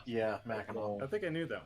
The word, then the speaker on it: Mackinac: Try to pronounce that one, which I'll let somebody else try, and I know the other one is pronounced Mackinac. Yeah, Mackinac.